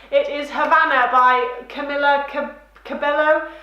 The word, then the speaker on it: Cabello: is Havana by Camila Cabello. I want to say Caballo because I'm thinking I'm really cool in Spanish, but I'm sure that that's not how you say her name.